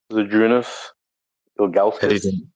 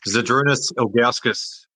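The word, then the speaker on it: Žydrūnas Ilgauskas: Zadrunas Ilgauskas. Well done, mate. Yeah, great pronunciation too. Zadrunas Ilgauskas.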